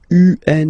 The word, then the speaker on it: un: Okay, remember, UN is pronounced like un, lundi, lundi, lundi.